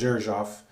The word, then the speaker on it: Xerjoff: a perfume by Zuroff which is spelled XE r jo FF which makes it essentially impossible to figure out how to pronounce it I believe it is pronounced as irshaf this scent is NOK